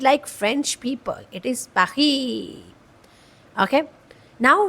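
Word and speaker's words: Paris: That is पेरिस टू not pronounce it पारी। पारी okay no that's not cool. Pronounce it like French people. It इज़ पाखी।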